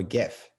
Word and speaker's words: GIF: it all jif or gif well the guy who invented it uh you know pronounced it as jiff like the peanut butter and the um literary critics pronounce it as gif so i'm all about